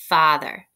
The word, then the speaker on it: father: F-A-T-H-E-R, father. Go ahead and write it on your board. Father can be a tricky word to spell as well because that A makes the ah sound, father.